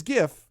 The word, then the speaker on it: GIF: delayed until monday i think so yeah it's pronounced like gif which is gif not jif in accordance with the prophecy i don't care